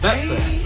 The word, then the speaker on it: Baepsae: Oh, Baepsae.